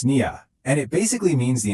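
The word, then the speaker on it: نية: Now, this whole concept has a name in Arabic, niyya. It's pronounced niyya, and it basically means the intention you hold deep in your heart right before you do something.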